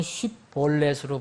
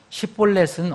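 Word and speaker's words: שיבולת: 제가 이렇게 해봤더니, 그 영어를 발음하는 그 원어민은 쉬볼렛 이렇게 발음합니다. 쉬볼렛. 그러면 여기에 시볼렛은 어떻게 발음하냐? 시볼렛. 여러분 차이 분명하겠어요? 분별하겠어요? 영어로 얘기하면 H가 하나 더 붙었어요. SH고 하나는 그냥 H가 없는 S예요.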